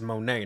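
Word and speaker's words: Moné: Mercedes Money is currently the hottest free agent. Well, first of all, it's Monet, not Money.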